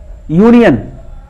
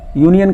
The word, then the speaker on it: union: यूनियन, ए यूनियन, यूनियन का उच्चारण भी UNION से होता है, लिखा जाता है। यू क्या है? स्वर है, लेकिन उसका उच्चारण किससे हो रहा है?